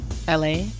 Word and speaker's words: ELHAE: LA. His name is LA. But it's spelled ELHAE.